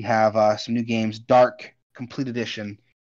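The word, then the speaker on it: Darq: december 4th we have uh some new games dark complete edition spelt with d-a-r-q uh this game is like a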